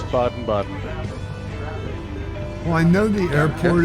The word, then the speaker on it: Baden-Baden: I believe it's pronounced Baden-Baden. Yeah, I think so. It's Baden-Baden.